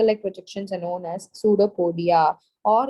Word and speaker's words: pseudopodia: EU so where is p is silent so here that is